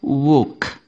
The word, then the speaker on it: walk: tidak dibaca yang mana nah yang tidak dibaca yang silent letter-nya adalah huruf l l pada kata W walkk itu enggak dibaca membacanya Bagaimana membacanya bukan wk Bukan tapi l-nya tidak usah dibaca cara membacanya adalah woke woke ya jangan salah jangan sampai walk walking